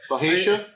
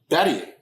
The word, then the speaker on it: Bhatia: Bahia? Is that how you say it? It's Bahia. Bahadia? It's Batia.